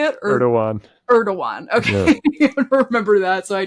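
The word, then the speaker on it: Erdoğan: it again how do you say it Eran erdoan okay remember that so I don't embarrass myself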